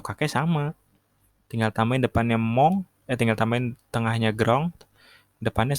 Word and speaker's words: mon: Nah, kalau kakek sama, tinggal tambahin depannya mong, tinggal tambahin tengahnya grand, depannya sama-sama mong, kan sama-sama le juga.